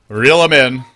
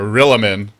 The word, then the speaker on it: Rilimin: The TI9 champs facing off against Rilimin, or Rilimin, but Rilimin is how it's supposed to be pronounced.